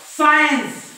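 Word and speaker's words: science: अशा प्रकारच्या शब्दांमध्ये असतो आता बघा ही स्पेलिंग सायन्स आहे तर इथं सी चा उच्चाराने सायन्स सायन्स राईट एस नंतर आय सायन्स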